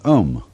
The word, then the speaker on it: Om: mantras is of course the sound om that sound is used because if you spell it out a u m it runs from the back of your throat to your lips and therefore it contains the whole range of the voice and for that reason